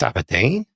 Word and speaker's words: abrdn: And they said, "It's still pronounced Abodine, but it's just spelled ABRDN."